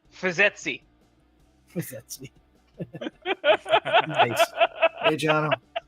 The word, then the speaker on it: FYSETC: I've been saying it Fizztech or Fiztech. Yeah, Fizek. Well, there's it's ETC. Jano? Yeah, FYSETC. etc. Yeah. Fiz, Yeah. etc. Is that how you say it? No, Eh, because much like this other person, I wish I remember who it was. I do a lot of Linux, so it's Fizzetzi.